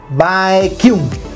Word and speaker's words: Baekhyun: O sea, hay gente que lo pronuncia Baekhyun, otros Baekhyun. No sé. Te voy a decir cómo es. Baekhyun.